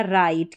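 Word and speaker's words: right: में फिट हो जाएंगे अब यहां पर है आर है। फिर बीच में आई जी एच है। इसको आई जी एच को आई पढ़ा तो यह बन गया राइट। क्योंकि लास्ट में टी है। इसको ट पढ़ा। राइट हो गया।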